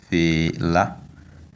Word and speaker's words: fela: Now we have the word fela, fela. The tone is on the last vowel a, fela, which means bat in English and le but in French.